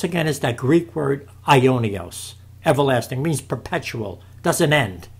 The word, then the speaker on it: aionios: The word there, ladies and gentlemen, for everlasting, it's spelled this way, A-I-O-N-I-O-S, Aionios, okay?